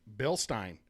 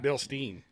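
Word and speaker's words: Bilstein: his his knowledge because he pronounced bill stein correctly correctly and not bill steen that was the test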